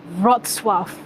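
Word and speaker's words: Wrocław: i know how to i know how to pronounce this one it's not it's not cloud i know you know rock cloud it's rod suave broad swap uh i think i think that's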